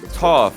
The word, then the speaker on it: Toph: Is it pronounced Toph, chat? Is it Toph?